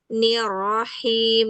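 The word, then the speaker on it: الرحيم: Kalau pengucapan huruf ro makhrajnya ee harus sampai menempel ya diusi ya. Bism bismillahirro. Ee kadang-kadang itu kalau misalnya ee ro yang pertama itu masih ee agak jelas terdengarnya rahma nanti di nirrahim. Nirrahim gitu. Nirro hirro rnya jelas.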